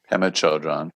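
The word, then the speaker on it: Pema Chödrön: Pema Chodron.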